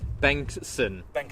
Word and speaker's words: Bengtsson: How do you pronounce it? So I get it right. Bengstsson.